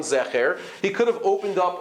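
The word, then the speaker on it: זכר: And if he wanted to tell us which is the correct version, if there were two versions, one Zeicher and one Zecher, he could have opened up a Chumash and told us, by the way, this word is Ka'anakim and not Ka'anakim.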